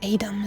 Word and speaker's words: Edam: be pronounced appar the Austrian Smokey cheese and Edam or Adam as it should be pronounced please yep that is cheese and the